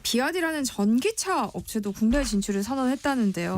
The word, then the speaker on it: BYD: 그러니까 비아디라는 게 이제 중국식 발음이고 이제 원래 이제 미국의 브랜드는 BYD라고 써 있거든요.